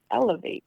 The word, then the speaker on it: LAV8: was like l-a-v-8 and how do you say it elevate l-a-v-a wow nice so